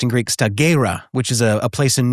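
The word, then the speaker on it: Stagira: He was born in 384 B.CE and it's pronounced in Greek staggerra, which is a place in northern Greece.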